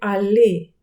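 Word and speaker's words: aller: А як же правильно вимовити дієслово в інфінітиві? Дієслово, яке звучить як ходити, рухатись, їхати? Правильно його вимовити алі. Подслухайте різницю. Але, але, але, алі, але, алі. Чуєте цей звук?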